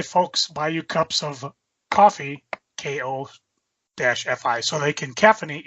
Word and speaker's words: Ko-fi: The first thing is that the Ko-fi, Ko-FY, where you can find her work, is pronounced coffee. No! So it's not Kofi Kingston? Nope, it's coffee. Coffee.